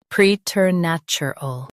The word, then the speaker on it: preternatural: Stress nat and keep ter soft.